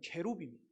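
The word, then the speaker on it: כרוב: 그룹이란 말은 이게 우리나라 발음인데 원래 발음은 이게 원어 그대로 발음을 해요. 그룹이 원래는 케룹입니다. 여기는 그룹들이니까 케루빔입니다.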